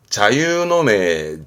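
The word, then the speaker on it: 座右の銘: 발음은 자유노메, 자유노메입니다.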